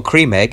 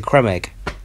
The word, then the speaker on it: Creme Egg: But like, I only found out today, it's not a cream egg, it's a creme egg. No, it's not. It is. That's how you say it. No, it's creme egg, mate. Like, because it's spelt like you say creme fraiche.